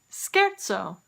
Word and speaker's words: scherzo: Let's take a look at a musical term that English borrowed from Italian that also begins with the ska sound. Scherzo, scherzo.